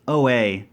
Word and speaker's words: Oaxaca: Or how do you pronounce O-A-X-A-C-A?